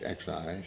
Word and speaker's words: Xi: And all of a sudden, the Premier Xi, that's X-I, Xi, X is pronounced as an S for some reason, passed a law that